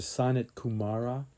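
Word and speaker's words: Sanat Kumara: and Michael, she says you should pronounce it as a sonnet Kumara, the virgin eternal youth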